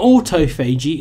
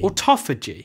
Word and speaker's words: autophagy: OTO Fiji or Topher G OTO phage not OTO Fei Jie it's a toughie G or Topher G the last time you said Otto Fei Jie loads of people mocked you in the comments Auto Fei Jie well check it out and use that pronunciation